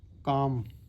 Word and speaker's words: calm: जोड़ दिया, lake was काम, इसमें एल की साउंड नहीं आ रही इसलिए हम CALM होती है काम की स्पेलिंग, मगर का म काम, और ए आ वाला